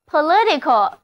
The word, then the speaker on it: political: 词后缀，那么 political 注意重音后移了，单词 political